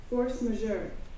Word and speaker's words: force majeure: Spellingnya force majeure. Force majeure. Nah, itu bacanya ya, force majeure. Ini tak cek spelling. Force majeure. Nah, ya, bacanya gitu. Force majeure gitu ya. Kalau orang Indonesia suka bilang force major gitu ya.